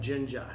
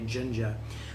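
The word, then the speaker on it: Jenga: I think it's called Jinja j-e-n-g-a and I think it's it's not Spanish I think it's a you pronounce the J Ginger where you stack these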